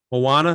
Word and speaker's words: Moana: who also worked on moana how do you pronounce it moana moana thank you and ralph breaks the internet uh